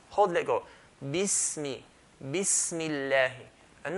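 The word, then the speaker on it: بسم الله: People, they say, Bismillah. No, it's Bismillah. Mim has to sound very clear kasra.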